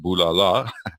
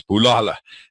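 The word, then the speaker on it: Bulala: a Zulu word so it's not pronounced boo la la well that reads that way but it's Palala and it means destroy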